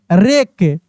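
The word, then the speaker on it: wreck: डब्ल्यू आर ई सी के रेक डब्ल्यू आर आई एस T wrist W आर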